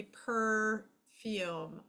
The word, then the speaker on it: perfume: syllable is right here we do not DOT the I because the or the E because that is a silent letter it is working for the U so it doesn't get a beat it does not get its own syllable so dot dot divide